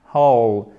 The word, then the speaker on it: whole: On ne prononce pas le W. Pas toujours, mais la plupart du temps. Et on commence par notre H, whole.